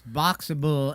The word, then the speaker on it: Boxabl: It's Boxable, and it's spelled BOXABL.